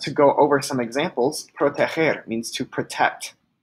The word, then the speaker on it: proteger: So when we change GER to GO, GER is pronounced ger, as in proteger, but when we add